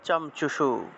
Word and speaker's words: চঞ্চুষু: তাহলে মনুষ্যাণাম চ ইয়ত্তেষাম তুল্যমন ইয়ৎ তথোভয়ঃ জ্ঞানেপি সতি পশ্যেতান পতগামছাও চমচুষু, চমচুষু এইভাবে। যদি আমরা বাংলায় বললে চঞ্চুষু বলতাম, চঞ্চুষু, কিন্তু এটাকে যদি আমরা সংস্কৃতে ভেঙে উচ্চারণ করতে চাই তাহলে চমচুষু, এইভাবে উচ্চারণটা হয় আর কি।